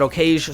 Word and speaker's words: Okage: I pronounce it Okage, so we're going with that.